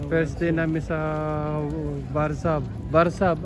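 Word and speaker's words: Warszawa: Barzab ang bigkas nila. Barzab. Sa salita nila, Barzab. Pero sa English, Warsaw.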